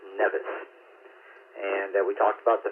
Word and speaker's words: NVIS: We normally pronounce it NEVIS.